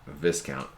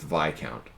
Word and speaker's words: Viscount: and spelled like discount so I like saying Viscount but I've been informed this pronounced Vai count but you like the huge Mon Calamari epic